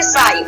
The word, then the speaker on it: sigh: अब इसको सिंग नहीं पढ़ेंगे, ठीक है, सिंग नहीं प्रोनाउंसिएशन कर देंगे, इसको हम क्या बोलेंगे साई।